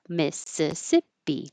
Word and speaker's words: Mississippi: A lot of letters but not very many uh syllables. Mississippi.